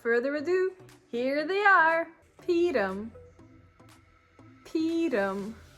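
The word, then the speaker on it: פּורים: Peerim. Peerim. This is how the name of this holiday is pronounced in Yiddish.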